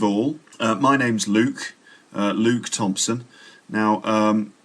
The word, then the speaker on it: Luke: luke thompson now um the name luke can be a little bit difficult for um learners of english to pronounce sometimes and i meet lots of people who can't pronounce my name and they they they call me look or maybe luck but it's not look or luck it's uh it's